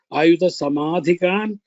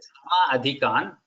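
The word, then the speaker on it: समधिकान्: Doesn't that become Ayuta Samadhikan? I think you're pronouncing it is not Sama Adhikan. It is Sam Adhikan. Sam is the Upasarga there for the word.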